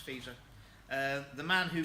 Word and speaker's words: Fico: It's spelt Fico, but it's pronounced Fico.